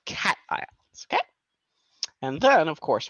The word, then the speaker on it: cation: That's either cation or cation. Why or how do you remember? It's because it is positive, like a cat.